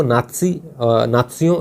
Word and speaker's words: नात्सियों: Hitler व नात्सियों यानी नाजियों, पहले देखिए नाजियों नाम आप सुना होगा, अभी आप एनसीईआरटी में पढ़ेंगे तो आपको नात्सियों इस प्रकार से उच्चारण जो जर्मन में होता है वही आपको शब्द मिलते हैं।